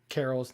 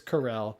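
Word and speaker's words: Carell: amazing yeah i mean i mispronounced carol's name it's corel i was gonna say carol i was like with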